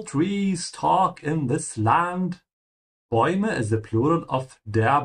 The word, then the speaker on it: Bäume: Bäume is the plural of der Baum, tree. Notice how I'm pronouncing the A with umlaut and the U after it, oi.